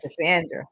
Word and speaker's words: Cassandra: Cassandra. That's exactly what was playing in my head when I said it. Yeah, pronounced with the Andra.